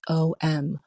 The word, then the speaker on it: Om: From this we have Om, spelled A-U-M, but often pronounced and spelled as O-M, Om.